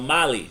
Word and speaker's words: Mali: on the schedule and if you go to mali not bali but molly yeah spelled the same way but m either or